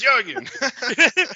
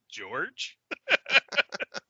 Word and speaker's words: Jurgen: coughing and be like, did you fucking say his name was George? So no, it's Jurgen. Yeah, so we juxtapose like the creepy giant monster with George.